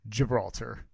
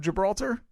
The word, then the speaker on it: Gibraltar: it does the gibraltar i believe that's gibraltar you think that's a soft g yeah rock of gibraltar i told you i